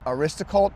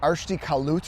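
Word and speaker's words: Arsicault: I was calling it Aristocult, but it's not called Aristocult. It's called like Arshti Kalut or something like that.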